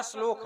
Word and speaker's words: श्लोक: श्लोक है, शुद्ध उच्चारण इसका श्लोक है।